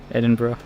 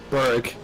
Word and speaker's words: Edinburgh: All I'm saying is, you must be the first person who's not British who actually said it properly as well. Edinburgh. Yes, you didn't say Berg.